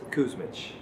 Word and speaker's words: Kusmich: So I actually want you to tell the audience exactly how you pronounce your last name. Nicholas Kusmich.